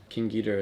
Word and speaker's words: King Ghidorah: you know King Ghidorah kind of closer to the Japanese pronunciation King Ghidorah is definitely one of